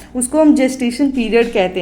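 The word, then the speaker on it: gestation: अब next term पे move करते हैं, गेस्टेशन पीरियड, ठीक है। गेस्टेशन, इसको जेस्टेशन पीरियड पढ़ते हैं, ठीक है, प्रोनाउंस करते हैं जेस्टेशन पीरियड।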